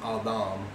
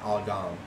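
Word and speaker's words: אדם: At the time, I didn't realize that the Degesh Lene was missing from the Dalet, and that makes it a softer the sound, like the TH and the. So it's actually pronounced Adam, not Adam.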